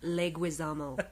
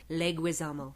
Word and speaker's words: Leguizamo: Leguizamo. That is how you say his name. Leguizamo. It's almost like an Italian dish. Leguizamo. Say it with me now. Leguizamo. Bye. Bye. Leguizamo.